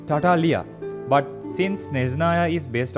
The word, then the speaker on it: Tartaglia: The pronunciation of Tartaglia is, if you look at him in the perspective of Commedia dell'arte side, it's Tartaglia.